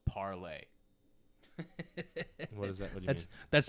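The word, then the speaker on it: Parler: about parlor before you want to talk about parlor a little bit i don't know i totally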